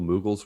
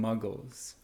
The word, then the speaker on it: moogle: my other favorite summon that's one i didn't mispronounce i used to call them muggles yeah no that's that's